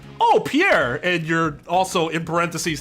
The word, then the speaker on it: Pierre: the e or the T you just say Pierre you're like oh Pierre and you're also in parenthesis thinking that name